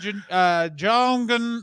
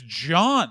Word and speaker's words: John: It was something like, "Please welcome Joan, like Joan, Johan." Like it was John. Like she couldn't get by the H in John, and I was like, "What the fuck?"